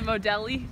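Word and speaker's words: Modelle: I pronounce this the Modelli Metcalf.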